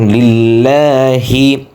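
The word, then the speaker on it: لِلَّهِ: আমরা অনেকে বলি লিল্লাহি, এখানে সঠিক উচ্চারণ লিল্লাহি।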